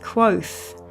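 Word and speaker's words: Kvothe: Kvoth, pronounced Quoth.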